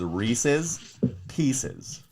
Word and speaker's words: Reese's Pieces: The correct way to say it is Reese's Pieces.